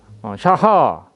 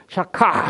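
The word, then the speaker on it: שחה: 히브리어는 샤하 또는 샥, 이 히브리어가 이거 하가 목 깊은 곳에서 나오는 소리이기 때문에 샤카 이렇게 발음하는 사람도 있고 샤하라고 발음하는 사람도 있는데 어찌되었든 한국말로는 표기가 불가능해요.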